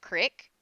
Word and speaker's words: creek: and then you have people who pronounce Creek like Crick which doesn't even make sense to me they'll be like oh yeah I went down to the creek like what I don't know why they pronounce it that way but they do but it's the same